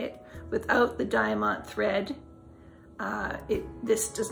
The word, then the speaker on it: Diamant: You can knit any of these designs without the Diamant, that's how you say it, without the Diamant thread.